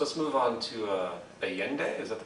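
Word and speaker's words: Allende: Foul Play so let's move on to uh aende is that the pronunciation mhm yeah well yende again President of Chile and um aende went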